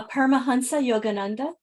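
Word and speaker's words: Paramahansa Yogananda: yoga Guru Shilpa can I just have you pronounce the name so I don't mess it up uh Parma Hansa Yogananda thank you who is considered the father of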